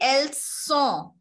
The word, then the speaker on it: elles sont: When we say elles sont, there is s sound. When we say elles ont, which means they have, there is z sound, z sound.